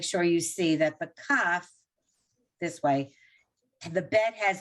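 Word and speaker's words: כף: on page 42 right k a f cuff regular k sound and again there are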